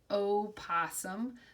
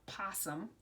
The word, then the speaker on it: opossum: And this is his full name, Opossum. Sometimes you'll see in books or even hear people talking and they just call it a possum. But his real name is an opossum.